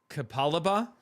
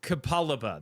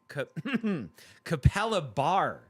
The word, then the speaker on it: Capalaba: Uh, Kapaliba. Yes, Kapaliba. That's what I'm going with. Uh, Kapal Capal Capalabar. There's no R at the end.